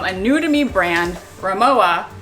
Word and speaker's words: Rimowa: new to me brand, Rimowa, or maybe it's Rimowa. I'm not sure how you pronounce it, but I'm actually going to pronounce it with the V sound, kind of like how we say Loewe. So comment below if you know definitively how this is supposed to be pronounced.